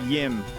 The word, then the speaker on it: Jim: Jim spelt J-I-M. La la la la la la la la. Oh, pronounced Yim.